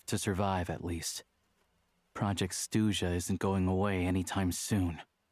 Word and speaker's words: Snezhnaya: The stress in Snezhnaya is supposed to fall on E.